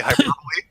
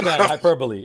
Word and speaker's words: hyperbole: Have you heard me say hyperbole? Yeah, hyperbole. Yeah, but yeah, for a while I said hyper hyperbol.